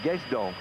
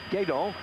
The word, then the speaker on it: Guesdon: winner of the Paris-Roubaix, I pronounce his name Guesdon. It's G-U-E-S-D-O-N. In fact, you dropped the S out. It's Guédon. So for all followers of the French language, my apologies then that it was Guédon, not Guesdon, who I was mispronouncing.